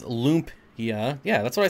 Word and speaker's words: lumpia: I have a Filipino friend, and she pronounces it just like you did. Yep. Lumpia, Lumpia.